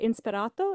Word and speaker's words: Inspirato: say it wrong but inspirato is that right yeah that's exactly right okay but that